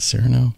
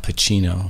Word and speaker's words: Cirino: but now I want to make sure I'm pronouncing it right you said it was trino exactly Chino like Chino right okay Marino Chino exact perfect